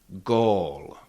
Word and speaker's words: gól: So again, it's a little bit longer o, short o, long o. Uh so you can repeat after me. Mort. Mort, that's fashion. And goal. Goal, that's a goal.